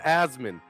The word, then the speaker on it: Asman: It's Asman. Yeah, so you're actually supposed to yell it as well, so it's more like that would be the proper pronunciation.